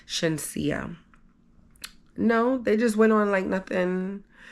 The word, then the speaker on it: Shenseea: It wasn't Shania, it was actually Shenseea.